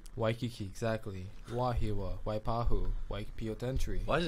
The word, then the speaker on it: Waikiki: v exactly but but if it starts with a w you pronounce the w for like for example y and i like waikiki waikiki exactly wahiwa waipahu why